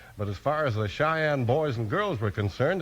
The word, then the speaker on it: Cheyenne: It's spelled C H E Y E N E, and it's pronounced Cheyenne.